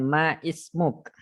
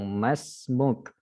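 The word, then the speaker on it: ما اسمك: Bukan kita mengungkapkan dengan ma ismuk, tapi kita katakan langsung masmuk, ya. Hamzah yang ada di sini, kalau kita perhatikan di sini ya, kan disebut di sini wa anta masmuk. Nah, kita bacanya masmuka atau masmuk, kita sukun langsung.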